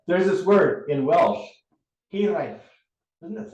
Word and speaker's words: hiraeth: Hiraeth. Everyone can say that with me. Say it. Hiraeth. The F on the end is represented here by a TH.